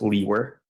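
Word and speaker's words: Liewr: name is and my last name is spelled l i e w r and it's pronounced leer and where are you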